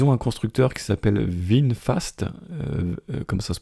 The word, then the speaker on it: VinFast: Ils ont un constructeur qui s'appelle VinFast, comme ça se prononce, VinFast.